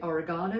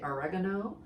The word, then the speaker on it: oregano: Oregano, as the Americans say. We say oregano, you say oregano.